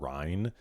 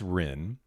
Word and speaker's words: Rinne: I probably would have said rin. It's ren.